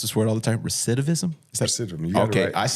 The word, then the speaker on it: recidivism: I mispronounce this word all the time. Recidivism.